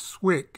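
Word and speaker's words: SWCC: combatant craft crewman badge the navy pronounces its swick insignia and it's awarded to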